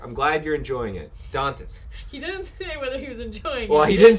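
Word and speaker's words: Dantès: my colleagues says 'don't rhymes with princess don't test dantas princess princess dentists so like dantas prince Dantas ok Dantas alright thank you we're gonna switch to Dantas thank you for that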